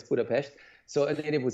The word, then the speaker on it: Budapest: And I pronounced Budapest correctly, by the way. So an S in Hungarian is a sh. Yeah, I noticed that. We would say Budapest, but it's...